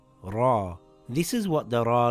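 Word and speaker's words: ر: Ra is sort of like the English letter R, but with a bit of a roll of the tongue. Ra.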